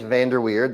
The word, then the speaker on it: Vander Weerd: My name is Vanderweard. That's how you pronounce my last name.